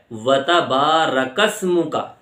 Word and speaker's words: وتبارک اسمک: بڑی ہا ہے، وبحمدک۔ آگے لفظ ہے وتبارک اسمک، تو اس میں ہم کیا غلطی کرتے ہیں؟ وتبارک اسمک بول دیتے ہیں، ریک اسمک، صحیح تلفظ ہے وتبارک اسمک۔ تو یہ غلطیاں ہم